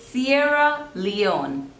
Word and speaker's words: Sierra Leone: Seychelles facials next is Sierra Leone Sierra two syllables and the stress is on the second one Sierra Sierra Sierra Leone Lee on Sierra Leone Sierra Leone Sierra